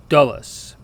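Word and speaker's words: dolus: pronounced well d o l u s it's pronounced dullus now U is another vowel that sounds very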